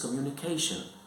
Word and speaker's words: communication: The correct way of pronouncing this word is communication. So the stress is on the third syllable.